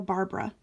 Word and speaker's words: Barbara: Is it Barbara or Barbara?